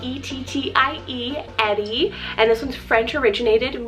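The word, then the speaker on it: Ettie: I have this sweet name Eddy, spelled E-T-T-I-E, Eddy.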